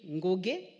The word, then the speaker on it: Ngoge: I've been watching a lady called Lily Ngoge. I have problems pronouncing the word Ngoge. Honorable Speaker, because in Kikamba there is no G without N.